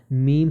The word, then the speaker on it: meme: میموری یا فرانسیسی لفظ میم سے متعلق سمجھا جا سکتا ہے۔ لفظ کریم کے ہم قافیہ کی طرح اس کا تلفظ ہوگا۔ میمز کی مثالیں ہیں